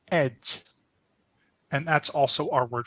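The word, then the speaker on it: egy: a vowel and then we only have one word for a or an which is pronounced Edge and that's also our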